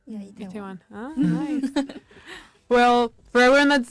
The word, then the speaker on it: Itaewon: How is it pronounced? Itaewon. Itaewon. Yeah, Itaewon.